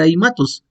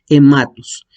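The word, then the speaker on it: αἵματος: En el caso de aimatos, no se va a hacer aimatos, va a ser hematos. ¿Por qué? Porque ahí se pronuncia como E. Y entonces vamos a leer la palabra en griego como hematos.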